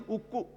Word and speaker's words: ukku: Actually, in Telugu, the word for steel is ukku. Ukku means steel. And these Britishers could not pronounce this word ukku.